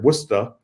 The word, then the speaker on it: Worcester: years I've been in Worcester Massachusetts which is pronounced here wora wer even though it's spelled like Worchester like